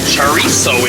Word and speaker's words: chorizo: up but chatting c-h-o-r-i-z-o but the z is pronounced like an s is a mexican sausage